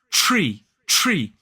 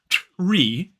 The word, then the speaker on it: tree: And in fact, that T is closer to being more like a ch that we would see in church. So it's not tree, it is tree. So for me, it's slightly further back. The T is slightly further back in the mouth.